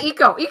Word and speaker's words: Eco: It's like eco, right? Eco, yeah. There we go. Yeah. I was like echo. That's not right. It's eco.